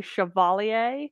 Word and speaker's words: chevalier: school so i say chevalier which is like an kind of anglicized pronunciation of this french word and it's basically uh